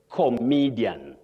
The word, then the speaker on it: comedian: you talk of the person you say comedian. Comedian. It may surprise many people. But that is the way to pronounce that word.